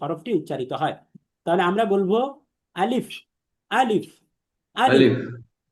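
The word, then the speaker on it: باء: পড়তে হবে আমরা বলব বাবা বা নিচে এক নুক্তা যুক্ত বা হরফটি এক আলিফ টেনে পড়তে হবে এবং বা হরফটি আমরা দেখেছিলাম যে বারিক বা পাতলা তথা এটা মুখ স্বাভাবিক রেখে পড়তে হয় এসবিএম মেথড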